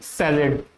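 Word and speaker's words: salad: Okay, next example, she added lettuce to दी सैलेड। इसको भी सैलेड बोलते हैं इंग्लिश में, सैलेड, सलाद को इंग्लिश में सैलेड बोला जाता है।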